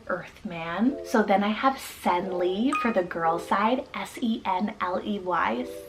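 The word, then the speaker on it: Senley: So then I have Senli for the girl side, S-E-N-L-E-Y, Senli.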